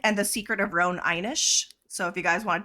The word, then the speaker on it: Inish: So The Secret of Roan Inish or Inish. Inish. It's definitely Inish. Inish. The way Okay. it's spelled.